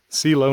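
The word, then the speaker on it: Celo: a great view we're near silo knob i believe that's how it's pronounced c-e-l-o first six thousand foot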